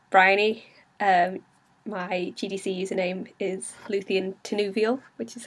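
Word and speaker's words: Lúthien Tinúviel: My GDC username is Luthien Tenuvial, which is how you say it, in case everyone's been asking me about that.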